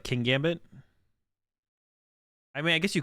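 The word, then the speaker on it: Kingambit: Kin Gambit? Okay, that's what I thought. I say it like King Gambit.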